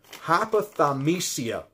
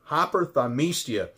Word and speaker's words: hyperthymesia: you I guarantee you you've never heard of hypothermia think I'm pronouncing that right hyperthymesia it is an overdeveloped memory and only four